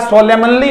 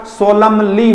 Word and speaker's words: solemnly: लिहाज से क्या बताया, रूट वर्ड के एंड में, रूट का मतलब मेन वर्ड के एंड में एमएन आ जाए तो आप एन को प्रोनाउंस नहीं करेंगे तो ऑटमन होगा या ऑटम होएगा, प्यारे बच्चों बोलो, ऑटम होगा। उसी प्रकार सोलमनली नहीं होगा, सोलमली होगा, क्या होगा, सोलमली, क्या होगा प्यारे बच्चों, सोलमली।